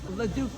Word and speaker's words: LeDuc: LeDuc.